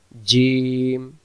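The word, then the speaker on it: ج: জিম অক্ষরে জিহ্বার মাঝখান থেকে শক্ত করে পড়তে হয়। এবার আমরা উচ্চারণে যাই। জিম।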